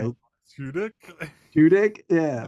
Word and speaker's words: Tudyk: I always pronounce this dude's name wrong. Alan like Alan Tudyk?